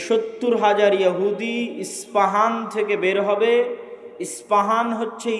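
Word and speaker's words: اصفهان: প উচ্চারণ করি ইসপাহান আরবিতে এটা উচ্চারণ হয় না আরবিতে হয় আল আসবাহানী বা উচ্চারণ হয় ইসবাহান বা আসবাহান সেখান থেকে 70 হাজার ইহুদি দাজ্জালের সঙ্গী হবে সাথী হবে এবং মুসলমানদের বিরুদ্ধে যুদ্ধ করবে।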